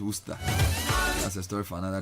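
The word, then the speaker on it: Worcester: I wonder why W E S D E R is pronounced Worster.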